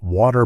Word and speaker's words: water: American sound quite well the eer at the end of the word pronounced as ER so when I say don't forget to water the flowers really focus on that ending this practice is going